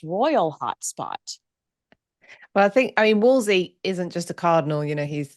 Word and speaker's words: Wolsey: Thomas Wolsey's home.